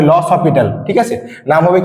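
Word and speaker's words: L'Hôpital: loss অফিটাল ঠিক আছে অনেকেই নামটা উচ্চারণ করে এল হসপিটাল ওকে এল হসপিটাল কিন্তু নামটা হবে লস হসপিটাল ঠিক আছে নাম হবে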